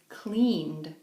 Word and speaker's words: cleaned: When do we pronounce ed like a D? Okay? We have this word, for example, clean, and the regular past tense is cleaned. Cleaned. Not cleaned. Cleaned. It's softer.